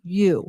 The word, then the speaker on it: ewe: No, it's a U. I think it's EUE and it's pronounced U. Dad. So a ewe, a female sheep, gave birth to a stillborn baby that was unable to be resuscitated.